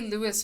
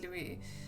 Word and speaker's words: Louis: They say Louis, but it's usually pronounced Louis without the S. Yeah, that's what I thought, because it's French. No, so it's pronounced Louis.